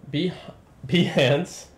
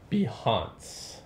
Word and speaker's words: Behance: b hands and that whoa hold on that is not how you pronounce that not at all how have you been pronouncing it i like to call it behance it sounds so fancy all right then so